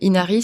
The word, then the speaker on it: Inari: le refuge d'Inari tout attaché en minuscule et Inari c'est i n a ri voilà comme ça se prononce mais voilà si vousir des infos sur